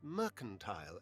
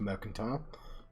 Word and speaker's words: mercantile: both as pious and mercantile as mine should miss. No, it's pronounced mercantile.